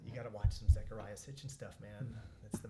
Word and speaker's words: Zecharia: Zechariah and call him Zachariah right they'll go it's it's a ze by the way zecharia sitchin I'm like you